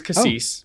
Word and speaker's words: Cassis: we were talking about uh Cassis or Cassie yeah I'm sure we got that wrong uh no you were right it is Cassis you do you do